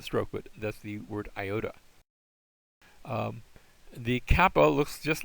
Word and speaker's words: iota: Next we have an iota. Both the I and even the small iota look a little bit like a I. That's not too difficult for us. That has the I sound like in fit.